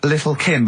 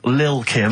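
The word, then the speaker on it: Lil' Kim: it's a track by Little Kim. How are you pronouncing it? I'm pronouncing that correctly. Lil Kim.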